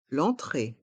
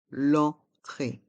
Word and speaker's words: l'entrée: la carte des vins l'entrée l'enentrée le E et le N dans le mot entrée font le son en entrée l'entrée l'entrée le plat principal